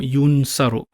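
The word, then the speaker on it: يُنْصَرُ: Yansuru, and again we'll turn the finger this way, it'll become yunsaru. Yunsaru. Yunsaru rhymes with yuf'alu.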